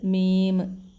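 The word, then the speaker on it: ميم: ലാ എന്ന അക്ഷരത്തിന്റെ ശബ്ദം അടുത്തത് മീം മ നമ്മളെ മയുടെ ശബ്ദം മീം അടുത്തത് നൂന് നമ്മുടെ നായുടെ ശബ്ദം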